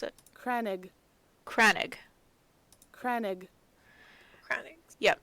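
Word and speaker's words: crannog: Pronounce it. Cranig.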